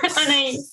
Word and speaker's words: Anais: We have Anais, and I hope I correctly pronounced it somehow. Yes, Anais. Anais, perfect.